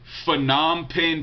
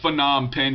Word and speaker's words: Phnom Penh: He said, I was wondering where's the best place in Phnom Penh to buy fruit at.